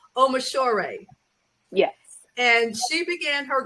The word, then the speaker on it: Omishor: And I want to go back because I'm pretty sure I mispronounced her name. So it's Dr. Lola Omishore.